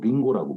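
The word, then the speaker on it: りんご: 나무 목변에 그 금자 써서 임금이라고 했는데 이것이 일본으로 가가지고 일본식 발음으로 링고라고 부르는 겁니다.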